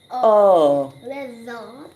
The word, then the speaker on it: weather: So the A is silent here, But the E is not saying E in this word. It's making a short sound. We hear E. So woo, ev, woo, ev, Weather.